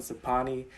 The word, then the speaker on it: Sophanny: and my ex Sapi, SOPHY, and her cousin Sapani, SOPHANNY, and one of my besties, Sapik, SOPHEAK. My name is pronounced Sapanya!